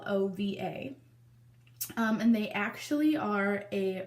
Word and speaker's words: Lilova: So the brand that reached out to me is called, now I don't really know exactly how to pronounce it. I want to say Lilova. It's Lilova.